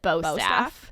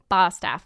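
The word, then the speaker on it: Bostaph: it's spelled b-o-s-t-a-p-h so most people pronounce it both staff but i remember you told me it's bad like a sheep in the south like a sheep staff staff emily bastaff but if you call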